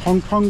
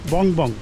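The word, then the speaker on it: Phong Phong: আসল নাম হচ্ছে বং বং, বানানটা PHONG ফং আর PHONG ফং, মানে ফং ফং বললেই ভালো হয়, কিন্তু আসলে উচ্চারণটা হবে বং বং।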